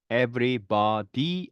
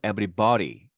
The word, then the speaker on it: everybody: 자, 밑에 건요, everybody 안 하고요, everybody 이렇게 발음이 나죠.